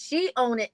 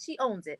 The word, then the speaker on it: She Own It: She own it, she biz. I said it right. It doesn't sound like it's right, but it's she own it, not she owns it.